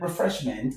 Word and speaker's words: refreshment: So, you're left with The root of this word, refreshment, is fresh. The root word is fresh and so fresh takes the stress.